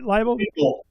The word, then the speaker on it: Liebl: Did I say it right? Liel liel.